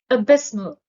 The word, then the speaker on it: abysmal: are chasm void fisher abysmal the stress is on the second syllable abysmal abysmal is an adjective that